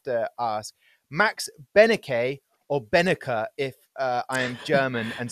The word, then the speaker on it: Benecke: In German, you just pronounce it like it's written there, so Benecke, like with the German accent, but Benecke is totally fine, and I got used to it.